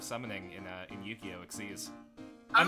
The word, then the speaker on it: XYZ: Exceedes. I'm not even My mind went to Exodia for some reason. I'm actually not joking too. It's It's called XYZ summoning, but they pronounce it exceed summoning.